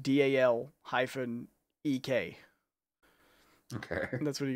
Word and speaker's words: Dalek: But it's more common where I come from to call them Daleks as well. Like lick. Lick.